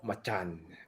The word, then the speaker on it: Macan: a 2019 makana actually the way to say it is called Machan because that's how you say it in Indonesia pregnancy third row